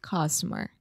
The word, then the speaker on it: customer: right this is musong do schwa really relax and say uh customer customer customer okay you're almost saying customer you're a little too open customer just try to